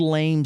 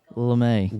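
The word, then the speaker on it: lamé: His famous gold lame suit. Am I pronouncing that right? Huh? LeMay. Gold LeMay.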